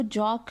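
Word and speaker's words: Jaques: और इसको जो मोनोलॉग का जो स्पोक्स पर्सन है, जो स्पीकर है, वो है जॉक, JACQUES बेसिकली नाम है इसका, लेकिन इसको जॉक प्रोनाउंस करेंगे, जॉक।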